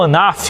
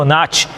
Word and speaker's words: Anat: uma deusa chamada Anat, o modo como se pronuncia, tanto faz, mas ou Anaf ou Anat.